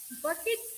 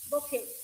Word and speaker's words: bouquet: See, it For example, bouquet bouquet of flowers, but it is not pronounced like that. It is pronounced as bouquet. Bouquet.